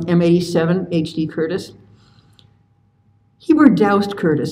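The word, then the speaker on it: Doust: HD Curtis he were doused Curtis I learned how to pronounce his middle name by phoning his last living student at asking I was told to rhyme with soused no I think it's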